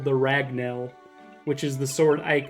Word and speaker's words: Ragnell: lore rants but uh kind of like rag null it's just like the